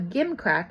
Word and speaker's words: gimcrack: So a gimcrack is pronounced gimcrack.